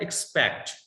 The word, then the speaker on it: expect: दूसरा है एक्सपेक्ट. एक्सपेक्ट को ठीक से प्रोनाउंस करने का, पीपल प्रोनाउंस दैट एक्सेप्ट, ई का साउंड आएगा.